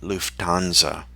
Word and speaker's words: Lufthansa: our practice um so the h is silent just like lufthansa it's not lufthansa it's lufthansa and so anyway that's